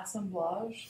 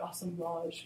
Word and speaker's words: assemblage: may also cure assemblage referred to as assemblage and that's more of a kind of a French pronunciation so if you hear somebody talk about awesome Lodge you know kind of a lofty way you know it's essentially